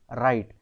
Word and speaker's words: write: Similarly WRITE, बट we read it एज राइट। So here we कैन से W is silent. W has no sound in these words.